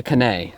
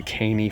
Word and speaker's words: Caney: ranger did say uh the canai i don't know if it was just the way they pronounced it maybe they weren't from around here or you know they had a little bit of an accent didn't sound like american honestly they pronounced it that way so i was pronouncing it that way so it's the caney fork river for all those grammar